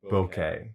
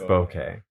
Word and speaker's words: bokeh: a crazy way, that's bokeh. Oh, okay. Yeah. Actually, it might be pronounced bokeh. Bokeh? But it's B-O-K-E. People spell it B-O-K-E-H, but I guess it's a Japanese word, so B-O-K-E-I.